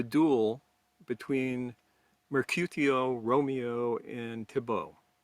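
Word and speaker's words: Tybalt: between mercutio romeo and tebow or thibolt as they often say but it should be pronounced tubo so uh mercutio and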